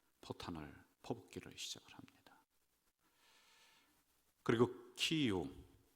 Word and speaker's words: 키이우: 그리고 키이우, 소련식 발음으로는 키예프, 우크라이나의 그 수도이죠.